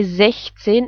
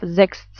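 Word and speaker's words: Sachsen: but here this is cut off so we pronounced the German see ha like and we say zaxon instead of Zechs in this one is also an exception the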